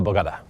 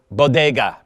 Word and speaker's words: bodega: bar I'll go to the Bogata how do you pronounce that properly bodega bodega thank you I know I said it wrong the bodega he goes